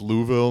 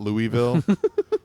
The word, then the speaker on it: Louisville: Cobra needs to correct them and say it's Louisville not Louisville Louisville uh tell me about the artist on